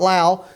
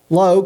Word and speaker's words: Lowe: Well, it's Lowe, not Lau. Lowe, Coach, I finally got it right.